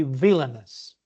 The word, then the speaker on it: villainous: person vonos villainous okay actually it's not like that it should be villainous the pronunciation villainous because the word is villain so villain yeah villain